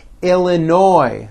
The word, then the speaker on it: Illinois: Florida Georgia Hawaii Idaho Illinois the final s is silent Indiana Iowa Kansas Kentucky